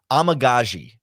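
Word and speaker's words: Amegadjie: name but what give me give me the pronunciation yeah amagazi yes if amagazi is out there again I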